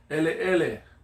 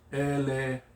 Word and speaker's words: ele: Ele is the Hawaiian word for black. Ele. Yeah, the E doesn't change its pronunciation.